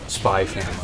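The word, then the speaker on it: Spy × Family: actually talks about it where it's like you don't actually pronounce the x oh okay so it's like you don't pronounce the x in spike's family it's just spy family no it's actually a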